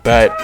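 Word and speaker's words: Bete: This runner is obviously another level 5 familia member of the Loki familia, being bet or beat depending on how you say it.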